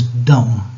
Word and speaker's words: dumb: t o m b uh B is always silent mean like when when B is followed by m okay yeah so B is silent so this is dumb uh dumb officials take